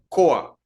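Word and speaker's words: כח: palabra hebrea que tenemos ahí en pantalla se pronuncia coa sí como lo coloco allí entre paréntesis significa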